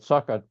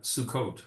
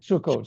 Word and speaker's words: Sukkot: correct me it's The emphasis is on Sukkot but okay. Yeah. Sukot.